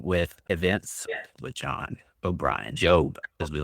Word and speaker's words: JOB: events with John O'Brien, Job, as we like to call him. Is that how you say it, Job, or do you say the Joe? J-O-B, usually just the J-O-B. just the letter J-O-B, but I'll answer to pretty much anything.